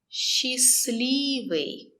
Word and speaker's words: Счастливый: Счастливый. We don't pronounce the letter T.